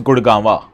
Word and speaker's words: Gurgaon: You know, in local Haryanvi, Gurgaon or Gurgaon is pronounced as Gurgawa.